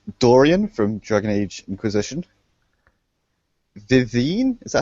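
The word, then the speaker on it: Vivienne: from Dragon Age Inquisition vivine is that how you pronounce that name Viv Viv from Dragon Age Inquisition she's not actually French but the name should be said French carry on Kevin spy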